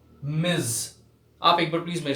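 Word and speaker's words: Ms.: Actually इस word का सही उच्चारण है ये मिज।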